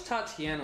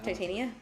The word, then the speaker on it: Titania: And also, I wish Tatiana was more involved in the series. Titania?